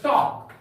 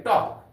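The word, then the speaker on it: talk: किया गया है इसलिए इस एल का उच्चारण नहीं करेंगे वा का अर्थ होता है टहलना ठीक उसी तरह से होता टॉक टी ए एल के टॉक टॉक का अर्थ होता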